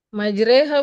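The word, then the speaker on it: مجراها: Nah, ini kan tulisannya ro ya, Kak ya. Tapi dia dibacanya surah e majreha.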